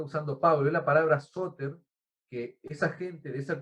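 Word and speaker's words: σωτήρ: Y esa palabra salvador, por ejemplo, es la palabra griega soter, así como la escuchan, soter, S-O, acento en la O, T-R.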